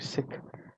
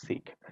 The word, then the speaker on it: Sikh: correctly it should be sick and if you pronounce it within the English tongue it's Sikh but if you look